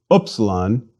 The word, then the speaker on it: upsilon: On the other hand, the U in English prune may serve as a close approximation. Please repeat. Upsilon, U.